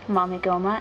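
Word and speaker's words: Mamegoma: and I have these two pastry bags a mamagoma and a Cheshire the cat and that's how you pronounce that and I have this little Chibi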